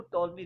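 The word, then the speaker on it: Ptolemy: इसको बेटा टॉलमी read करना है, पी यहाँ पर साइलेंट है, इसको टॉलमी रीड करते हैं।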